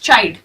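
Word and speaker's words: child: गलतियां कर जाते हैं चाइल्ड को कई लोग साइड पढ़ देंगे तो काईट नहीं है इट्स चाइल्ड ठीक है स्पेलिंग पे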